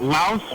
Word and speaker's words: Laos: You know that Laos rhymes with mouse.